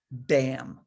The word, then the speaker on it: bam: and in her heart is the white seed syllable bam b-a-m on a sun disk on a white